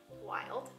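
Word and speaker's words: Wylde: Wild is spelled W-Y-L-D-E, wild, wildrose.ca.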